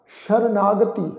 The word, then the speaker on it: शरणागति: नानक प्रभ शरणागति सस्से पैर बिंदी लगा के पाठ उच्चारण करेंगे।